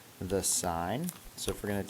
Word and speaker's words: sin: button on your calculator you can only fit three letters on there so it just says s i n but it's pronounced sign um another ratio that